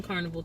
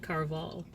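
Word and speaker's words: Caraval: I was saying Carnival too, but it's actually Carval.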